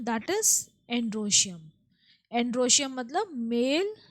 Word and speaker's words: androecium: एंड्रोशियम मतलब mail, spelling ध्यान रखिएगा, ANDROECIUM, एंड्रोशियम, that is the male reproductive part of the flower.